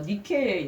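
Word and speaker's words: Νίκη: 나이키가 어디서 나온 원어냐면 헬라어 니케의 영어식 발음이라는 거예요.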